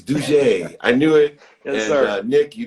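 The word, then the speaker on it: Dougé: read that i said there's no way d-o-u-g-e is due gay it's dougie i knew it nick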